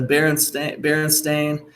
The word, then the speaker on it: Berenstain: This one it's just, it's always been kind of pronounced Berenstain Bears, right? And now it's spelled the way it's spelled the way it's pronounced, Berenstain Bears. Hey, we used to always say like, hey, my Berenstain Bears books or whatever. And it sounds like that, but it was always spelled with the EIN.